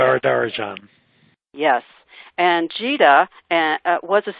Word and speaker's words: Varadarajan: going to try because Lizette told me how to say it. Let me think it in my head. Varadarajan. That's how you say it. Varadarajan.